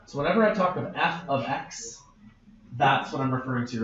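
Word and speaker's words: f(x): for X months to I want to talk about how to say this cuz you're going to see this a lot F bracket X the way that you say it out loud is f of X that's that's how you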